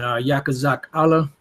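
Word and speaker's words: יחזקאל: Ezekiel chapter 38 and Yakaz Zak Allah is how you say Ezekiel in the Hebrew which means yahwah strengthens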